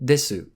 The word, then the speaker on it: です: to pronounce, followed by the final desu, or this.